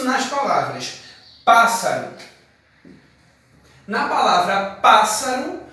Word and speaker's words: pássaro: Na palavra pássaro, a gente não pronuncia dois S's. Pássaro. Pronunciamos apenas um S.